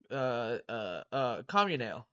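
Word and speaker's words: Comunale: How do you pronounce his last name again? Uh. Communale.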